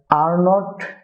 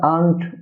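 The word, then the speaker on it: aren't: Dear viewer, আর নট এর কন্ট্রাকশনে হবে আরেন্ট, যেটাকে আমরা আর্নড বা ভিন্নভাবে উচ্চারণ করে থাকি, এটা হবে আরেন্ট, আরেন্ট।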